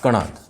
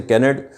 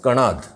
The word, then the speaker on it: कणाद: और उनका नाम था कणाद। थोड़ा इसमें ध्यान रखें, इसको भी नॉर्मली गलत प्रोनाउंसिएशन किया जाता है। Somewhere they call Kannada, somewhere they से कैनेड, but actually this word is कणाद।